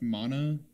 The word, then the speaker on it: Mana: It's pronounced Mana.